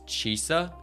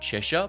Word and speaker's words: Chisa: I need to really get used to pronouncing her name as Chisa, not Cheshire, because they are spelt way too similar.